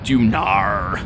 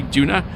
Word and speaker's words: Duna: anyway go Tolar LOL dunar yeah that's that's the way I say Duna dunar it sounds like I say an r on the end but it don't but because I'm Welsh